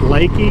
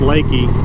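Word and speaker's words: Leakey: i think is pronounced lakey it kind of looks like it's pronounced leaky but i think it's actually pronounced lakey i have two options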